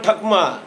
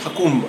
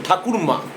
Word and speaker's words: ঠাকুরমা: বইল দিদিকে খুঁজতে গিয়েছিলাম ঠাকমা উচ্চারণটা কি হবে ঠাকমা একচুয়াল উচ্চারণ হচ্ছে ঠাকুরমা ঠাকুরমা সেটা স্থান কাল ভেদে সেটা হয়তো উচ্চারণটা একটু এরকম হয়েছে বকুলতলা থেকে আস্তে আস্তে